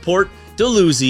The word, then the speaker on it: Port Dalhousie: And the number 4 neighborhood, and one of my favorites, is Port Dalhousie, pronounced Port Dalhousie.